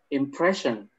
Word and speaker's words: impression: desirable shin yeah yeah whenever it's an sio it's going to make that shi sound sure same with t i o t i o will also make the sound can you repeat once